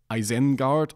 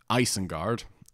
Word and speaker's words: Isengard: Rohirrim, and so it's pronounced as you would in English, as Isengard, with the stress on the first syllable and also the I letter.